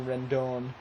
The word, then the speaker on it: Rendon: Anthony Rendone is how Vasquez is pronouncing it. I think that's right.